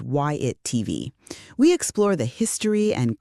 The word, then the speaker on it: WhyItTV: This is YATV, pronounced YIT TV.